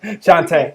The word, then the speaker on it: Shante: Shante, I got it forever now.